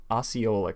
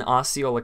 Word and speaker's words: Osceola: bought more land in, I think this is pronounced Osceola County. I'm 99. Yes! Finally! Okay, Disney has bought more land in Osceola County, which is very interesting.